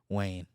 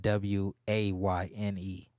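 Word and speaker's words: Wynne: what's your middle name Wayne but it's spelled wine is w-y-n-n-e instead of w-a-y-n-e so I got two ends instead of an eight okay so it's spelled like wine but it's pronounced Wayne so I was like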